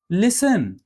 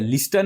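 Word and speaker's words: listen: एस और टी साथ में है पर टी साइलेंट है। कैसे? लिसन इसमें टी का आया क्या? लिस्टन आया क्या नहीं हम क्या बोल बोल रहे हैं लिसन विसल सेम यहां पे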